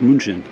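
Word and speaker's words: München: were here as well and the German uh pronunciation of Munich is Munchen and the German word for Monk Is Munch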